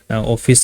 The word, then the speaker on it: Awfis: So company basically जैसे नाम में लिखा हुआ है ऑफिस स्पेस सॉल्यूशंस, ऑफिस तो मत जाना, सिंपली ऑफिस, जो हम लोग ऑफिस जाते हैं काम करने के लिए वो ऑफिस, ठीक है, प्रोनाउंसिएशन में ऑफिस आ रहा है।